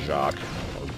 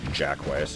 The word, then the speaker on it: Jacques: I don't know what the enemy is called, but the name of the level is Jacques. Jackways, if you want to just pronounce it phonetically.